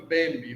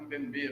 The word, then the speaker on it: Mbembe: Alguns falam Mbembe, outros falam Mbembe. No francês, o acento é na última sílaba.